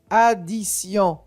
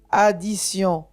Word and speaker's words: addition: d'une voyelle comme glace ou t suivi de Ion i n donc ça donne le son ce addition addition attention il y a